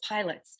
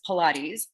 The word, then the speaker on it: Pilates: a big madonna fan and um the word pilates was splattered across the magazine um cover and i didn't even know how to say it so i was like what is pilots so i bought the magazine i did i